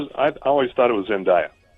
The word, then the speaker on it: Zendaya: It's spelled D-A-Y-A. It's pronounced how it's spelled, she says.